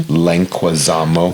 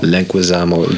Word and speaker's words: Leguizamo: Leguizamo. Leguizamo.